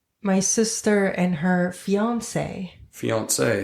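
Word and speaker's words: fiancé: Fiance, is that French? Fiance, yes, and fiance is the same, both male and female. But it's spelled differently, but it said the same in French.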